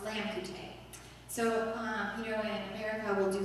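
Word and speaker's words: लामखुट्टे: Like in Nepali, the word mosquito is pronounced lamkute.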